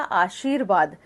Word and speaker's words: आशीर्वाद: जैसे आपने बोला आशीर्वाद, तो आपने शी के बाद र बोला आशीर, तो जहां आपने र का उच्चारण किया है उससे अगले वाले वर्ण के ऊपर वो रह जाएगा।